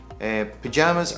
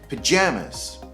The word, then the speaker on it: pajamas: pajamas by the way pajamas are pronounced like this pajamas pajamas pajamas so we don't say pajama pajamas it's kind of like banana banana banana yeah pajamas so another